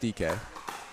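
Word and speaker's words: Dike: you know it's uh it's spelled d-i-k-e but it's pronounced DK nice shot and it's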